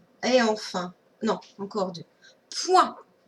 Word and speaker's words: point: Alors, avec la lettre P et le son moins O-I-N. Et la lettre muette, eh bien, on l'a retrouvée ici, mais aussi dans pointillé. Je chante T. Et la lettre qui chante T, c'est la lettre T. Mais ici, elle est muette.